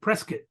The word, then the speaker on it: Prescott: it's well you would think Prescott but they pronounce it Prescott Arizona where gay men were being killed in